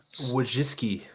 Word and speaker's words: Wojcicki: Wojcicki.